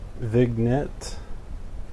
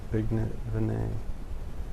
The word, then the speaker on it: vignette: Vignette Vinet. I'm pretty sure it's Vinet, but I could be wrong. I've always pronounced it Vinet. I've heard it said Vinet before, but I could be wrong. It might also be allowable to pronounce as Vinette.